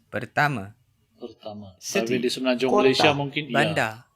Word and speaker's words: pertama: Saya, meaning I, is pronounced, saya, and pertama, meaning first, is pronounced. pertama, Pertama.